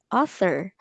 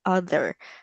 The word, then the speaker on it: author: Not other. Author. So it is silent. Ah, is it silent T? So it is a TH sound. So like that. So a smooth TH sound, not the author.